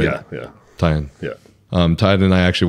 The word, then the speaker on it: Taeian: And Taeian and I actually, that's how you pronounce it, right? Yeah, yeah. Taeian.